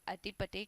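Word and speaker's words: Attipate: inconvenience but यस इट इज the right word अटी पटे कृष्ण स्वामी Ramanujan is the full name of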